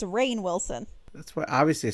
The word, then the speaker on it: Rainn Wilson: We have Ronnie Wilson as Jack Morris. The Office, he plays Dwight. He was in a horror movie called Cooties. What did you say his name is? Because it's Rainn Wilson.